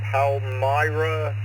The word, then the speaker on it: Palmyra: Bill from Palmyra, please correct my pronunciation.